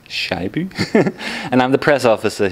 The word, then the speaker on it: Scheibe: That's pronounced Scheibe.